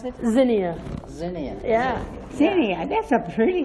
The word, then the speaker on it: Xinia: My name is Xinia, or, or, whatever it's easier.